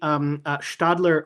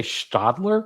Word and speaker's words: Stadler: S T A D L E R, but it's a Swiss-German company and so when the S is followed by a consonant, it's a sh sound.